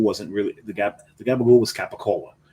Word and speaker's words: capicola: It's not gabagool. And you don't even, if you say it right, if you say it Brooklyn, now it's not Italian by any means, because in Italy it's capicola. Yeah, they're gonna look at